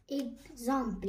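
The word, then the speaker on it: example: اكزامبل يعني المثال. اكزامبل ها هنايا الاكس تاعنا واش قريناها كزو، هذا هما في زوز قلنا اكزيرسيس اكزامبل.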